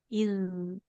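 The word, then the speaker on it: إِذْ: أعوذ بالله من الشيطان الرجيم بسم الله الرحمن الرحيم إذ تصعدون ولا تلوون على أحد والرسول Bisa diulang Bu huruf zal sukunnya. Iz.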